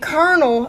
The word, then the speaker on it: colonel: like owl Oh W and Colonel uh-oh sounds like ER colonel so technically shower could